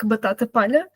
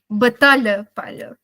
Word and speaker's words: batata palha: someone they didn't really they mistaken how they pronounce the words like batata palha, and they said batalha palha, and batalha in Portuguese is like battle.